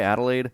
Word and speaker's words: Adelaide: This was the game against, and I can never pronounce Adelaide. I think Yep. it's how you say Adelaide.